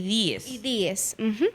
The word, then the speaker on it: Díez: Entonces, la correcta pronunciación del apellido de Duarte es Juan Pablo Duarte y Díez. Y Díez, así es su apellido.